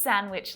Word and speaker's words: sandwich: I had the most delicious sandwich last Wednesday when I was on a date with a handsome boy. What letter is the silent letter there? Did you guess D?